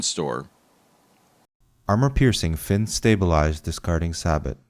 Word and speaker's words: sabot: rifle slugs or or sabbat slugs? So, and now we have sabbat similar to rabbit. Premier Acutip bonded sabo slugs.